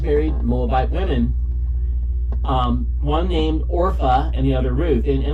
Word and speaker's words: Orpah: Her name is not Oprah, which is what I keep calling her. Her name's Orpah.